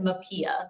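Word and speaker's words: MHPAEA: And somebody asked the other day, how do you pronounce that? We pronounce it MAPIA, the Mental Health Parity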